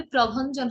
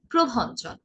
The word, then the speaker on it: প্রভঞ্জন: একইভাবে প্রভঞ্জন হবে না, কি হবে প্রভঞ্জন।